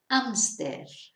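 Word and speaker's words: hámster: So es exactamente igual la palabra, pero la pronunciación, claro, es diferente porque en español no pronunciamos la H. Hamster, ¿vale?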